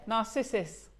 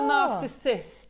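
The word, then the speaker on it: Narcissus: How do we pronounce it? Narcissis. It's it's a form of daffodil. Yeah. Not a narcissist.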